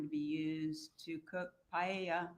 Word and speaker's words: paella: be used to cook paella. I'm not sure if that's how you pronounce it at the party. It's pronounced pya.